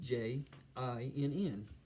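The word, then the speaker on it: djinn: U, it's spelled DJ J I N, simply pronounced jin.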